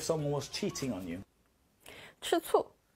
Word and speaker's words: 吃醋: 吃醋. It's that same sour taste here. So this one is pronounced 吃醋, and it actually means to be jealous at someone.